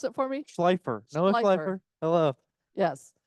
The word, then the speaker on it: Schleifer: Schleifer? Hello, check. Can you hear me? Yeah. Is this working? Yeah, Is can it you on? pronounce it for me? Schleifer.